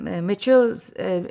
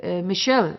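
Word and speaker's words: Michels: इसके अलावा रॉबर्ट जो मिचल मिशल जो है इसको हम टी is silent here Robert मिशेल के मुताबिक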